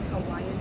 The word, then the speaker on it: Hawaii: That's how they say it, Hawaiian people, Hawaii.